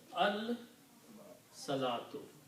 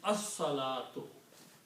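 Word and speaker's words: الصلاة: In the tajweed pronunciation, when swad comes after lam, then sound of lam is not pronounced. It's a shamsi letter, so swad is pronounced twice. As-salatu. Lam is not pronounced, so it is pronounced as-salatu.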